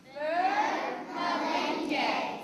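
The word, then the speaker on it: मिलेंगे: And this is how you say it. Ready? It's Malenge. Malenge.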